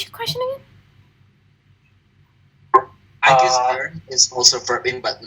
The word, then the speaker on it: gerund: Is it the verb ing is Jaren? Sorry? Jaren, apakah setahu kalau verb ing itu Jaren apa is it true? Jaren? Sorry, gerund? Yeah, Jaren. Sorry, I don't understand what. Gerund is in.